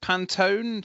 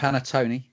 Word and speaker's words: panettone: I'm going to struggle to pronounce this rightly because of my dyslexia. Is it Pantone, the cake? Panettone.